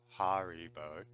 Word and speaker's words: Haribo: call that Haribo but if it was a German pronounce pronunciation it's probably more like har Hari boat and probably stress on the eye Haribo I would say